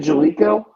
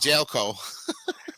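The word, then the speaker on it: Jaleco: He pronounced it Jalico. I used to call it Jelco.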